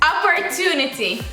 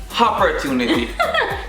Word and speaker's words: opportunity: Opportunity. Hopportunity.